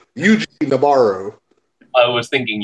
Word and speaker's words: Yuji: Yeah, that's why it sounds like Eugene. It's Eugene Noboru. I was thinking Eugene, actually.